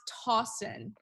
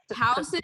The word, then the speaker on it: Towson: it in the chat right towson i think it's thousand like the university t-o-w-s-o-n yeah oh yeah thousand yeah oh